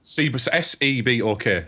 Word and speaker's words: Sebok: Yeah, Sebok. So it's like Reebok with one E and an S instead of an R.